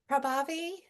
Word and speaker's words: Prabhavi: Prabhavi? I hope I said your name right. Yes, you did. The H is silent, if that helps at all.